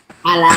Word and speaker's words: Allah: Opung Opung dites dulu a l l a h dibaca alah besok dibacanya itu di